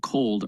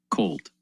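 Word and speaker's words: KOLD: So boil and cold are ETFs. Boil's when when natural gas is going up. Cold is the ETF spelled with a K.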